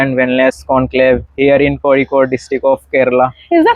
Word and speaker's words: Kozhikode: correct pronunciation according to Malayalis it is Kozhikode. Kozhikode. Kozhikode. Yes. Thank you. Thank you for teaching me. As I am a North Indian, so I also called in starting time I also called it Kozhikode. Correct is the Kozhikode.